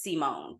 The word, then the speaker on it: Simone: adult I'm like it's I introduce myself as Simone with an emphasis on the seat I have heard you